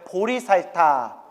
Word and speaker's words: 보리살타: 표기하면 보리살타 불러요 발음을 따서 따라해 보세요 보리살타 보리 사타가 어디에 나올까요